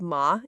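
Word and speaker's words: 马: For example, you want to say horse, which is called ma in Chinese. Since this character has the 3rd tone, if you pronounced it with the 1st tone, for example, the meaning will change to mother instead.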